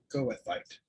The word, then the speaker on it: goethite: So Janelle says pronounce goethite as goethite. Goethite.